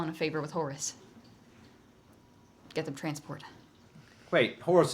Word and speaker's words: Horus: not pronounced no that's Horus yeah it's pronounced Horus not hores I've never heard anyone